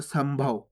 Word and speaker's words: संभव: अभी आपको बताया आपको, अगर पा होएगा, फा होएगा, बा होएगा, भा होएगा तो आधा माँ का उच्चारण करेंगे। देखो ये रहा भा, ये देखो सा के ऊपर अनुस्वार की मात्रा, उसके बाद क्या है भा, तो अपन यहाँ पे आधा माँ का उच्चारण कर देंगे इस प्रकार से संभव।